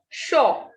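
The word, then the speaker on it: chaud: Next is shaw. D will not be pronounced, and AU has sound O. CH has sound sh in French. It is not ch, it is sh. So this is shaw.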